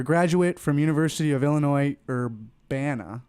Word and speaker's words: Urbana: so David your graduate from University of Illinois Urbana right or banner that's how you pronounce it vanish Champaign Champaign there you go